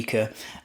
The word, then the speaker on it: Lykke: I have actually checked how to pronounce that, and that's how the CEO pronounces it. So I was thinking it might be Lykke or like, but it's actually Lykke.